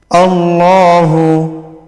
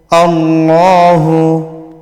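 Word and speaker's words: اللَّهُ: ইল্লাহ হুয়াল হাইয়ুল কাইয়ুম আল্লাহু আল্লাহু এখানে খাড়া জবর আছে এক আলিফ পরিমাণ টানতে হবে এবং আল্লাহু ছিল কিন্তু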